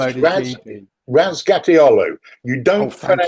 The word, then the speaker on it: Razgatlıoğlu: Razgatlıoğlu. You Oh, don't thank you. pronounce the G towards the end, Yeah. which is a common thing apparently in Turkish.